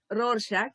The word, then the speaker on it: Rorschach: The Rorschach ink blot technique, that would be pronounced as Rorschach, so I have written it here.